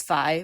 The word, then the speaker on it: Fi: statue of the Goddess I always pronounced it as fi but everyone else I hear says Fe oh I always thought